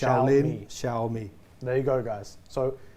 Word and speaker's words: Xiaomi: uh name shomi wrong so here's an easy way to remember how to pronounce it right you know shaoling Kung Fu oh yeah yeah shaoling Kung Fu sha me pronounce it like that and you'll get it right every time it's not ji it's sh Shia me there you go guys